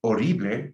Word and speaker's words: horrible: Remember, horrible, silent H.